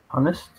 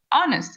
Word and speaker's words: honest: Honest. Voilà, on prononce pas le H, hein, c'est ça la difficulté. Honest, voilà, pas de H.